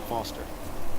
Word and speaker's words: Foster: I'm Foster. I'll remember that easy because your name rhymes with fossil and you're old.